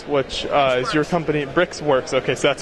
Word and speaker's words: briXwerX: bricks work brickworks which uh is your company brix works okay so that's how you pronounce it sorry i couldn't say it for